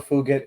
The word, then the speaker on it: Fugitt: And I just looked it up before I started the podcast, and I'm going to go Fugitt.